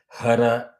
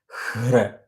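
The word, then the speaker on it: हृ: It is not hra, hara. It is hra.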